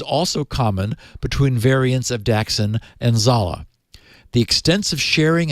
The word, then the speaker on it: Daxin: Not that it matters at all, but it's probably because it's Chinese Daxin. Da being one word and Xin being pronounced shin.